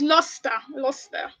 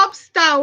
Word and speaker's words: Lustre: So it's Luster. All right. So it's so important for. Can you guys? It's not lobster or Luster. People are already spelling it. So Lustre.